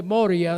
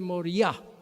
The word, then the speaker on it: Moriah: Y todas las palabras en hebreo que terminan en H, ahí se le pone el acento. Por ejemplo, cuando ustedes van a pronunciar el monte Moria, debe ser el monte Moriah.